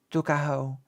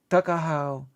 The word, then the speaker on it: Tuckahoe: Eastern Shore men usually pronounce the word took as tuck. Tuckahoe, therefore, is in Maryland parlance. Tuckahoe, but whatever may have